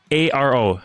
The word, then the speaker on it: Pesaro: Sarah, do you know how to say Italian city names? Yes. Pesaro. Pesaro? That would be Pesaro. Pesaro. There you go.